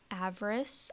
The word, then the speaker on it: Avarice: Today we're going to be playing a horror game called av-russ, I believe is how it's pronounced.